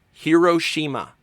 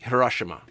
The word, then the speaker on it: Hiroshima: In America, Hiroshima is often pronounced Hiroshima. And in Japan, it's pronounced roughly Hiroshima.